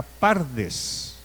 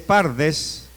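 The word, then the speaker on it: פרדס: Como en hebreo no hay vocales, solamente se escribe PRDS, que significa pardes.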